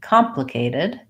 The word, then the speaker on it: complicated: complicated we want to make sure that we have first syllable stress on complicated these are all short